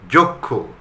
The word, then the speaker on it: যক্ষ: যক্ষ, অনেকে যক্ষ বলে, কিন্তু তা হবে না, এটা হবে যক্ষ। অক্ষাংশ, অক্ষাংশ হবে না কিন্তু, অক্ষাংশ।